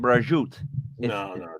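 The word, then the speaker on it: prosciutto: salads flatbread I would do the Fig and brajoot that's how it's pronounced it's delicious I know Pursuit I know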